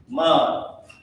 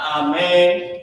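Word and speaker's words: אמן: And this is how you pronounce it. Amun. Not amen, amun.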